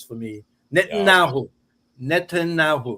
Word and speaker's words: Netanyahu: BB is easier to pronounce for me. Netanyahu. Netanyahu.